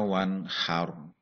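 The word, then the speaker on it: وَانْحَرْ: Ayat kedua, fasholli lirabbika wanhar. Nah, ini ada juga bacaan nun sukun bertemu dengan hak, bacaan idhar, bacanya jelas.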